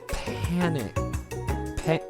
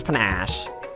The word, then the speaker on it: panache: It takes panic. Alright, so apparently that's spelled panache. It takes panache.